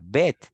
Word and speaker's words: Bet: La segunda sección con la B, con la Bet, se pronuncia Bet, y así sucesivamente, y hasta que termina todas las 27 letras del alfabeto hebreo.